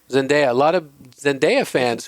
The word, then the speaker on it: Zendaya: Or is it Zendaya or Zendaya? Zendaya.